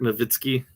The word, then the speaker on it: Nowitzki: It's obviously Dirk Nowitzki. So I get frustrated with people who can't pronounce the names, even in our own leagues.